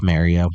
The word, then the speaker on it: Mario: Is is it Mario or or Mario? It's Mario. Okay. Um you know Mario made I didn't know if I was saying it wrong. No, you're saying it right.